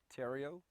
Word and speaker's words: Theriot: to do for me please state your name spell it also give me the title of your book tario t-h-e-r-i-o-t title of the book is american energy